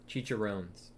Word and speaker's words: chicharrones: a pronunciation there? Chicharrones.